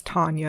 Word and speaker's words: Tanja: that like to rhyme my name is Tanya and it rhymes with lasagna okay thank you if